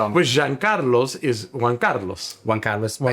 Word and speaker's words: Giancarlo: Did I say it right? John Carlo. Jean Carlo. Italiano. Jean Carlo.